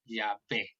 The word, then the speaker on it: Yahvé: Está Yahvé, está Yao, está Yehová. Hay varias formas, pero la que eh, este hebraísta pensaba que era la más correcta era Yahvé.